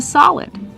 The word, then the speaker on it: solid: It's a solid. That's right. It's called a solid. Pronunciation. Use the open a sound like hot and stop. Saw. Solid.